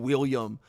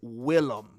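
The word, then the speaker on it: Willem: So, this dude's name Dude, I've been calling him William my whole life. Um, that's hilarious. Okay, here's the thing, though. If his name is Well, it is. I guess his name is Willum apparently. W I L L E M.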